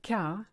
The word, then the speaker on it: quart: Now, if you look at the word quart, it's actually quarter, but with the French phonetic being the way it is, the QU is a K, quart, and you don't say the T, silent letter.